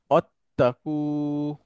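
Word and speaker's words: وَاتَّقُوا: বেশি ব্যবহার হয়েছে আচ্ছা ওয়াও যদি আসে ওয়াসলার আগে তাহলে ওয়াসলার জেরটা আর উচ্চারণ হয় না হ্যাঁ তখন এটা এভাবে উচ্চারণ হবে অত্তাকু অত্তাকু এবং ভয় পাও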